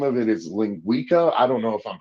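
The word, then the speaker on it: linguiça: I think the the name of it is lingua I don't know if I'm pronouncing that right but it's Ling Wilson Monica do you have something about that yeah it's lingua linguisa linguisa that's it thenua okay awesome dude I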